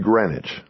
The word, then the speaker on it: Greenwich: My name is Greenwich, pronounced like the town in Connecticut.